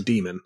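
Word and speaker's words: Daemon: Damon okay let's see d a e m o n yes so demon is how that's pronounced yeah I mean that makes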